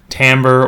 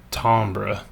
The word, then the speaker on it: timbre: Now, it's spelled like it should be timber, but it's actually, for complicated etymological reasons, pronounced timbre, or if you're being super fancy, timbre. I don't care how you pronounce it, and I mess it up all the time, but I'm going to generally try and stick to timbre.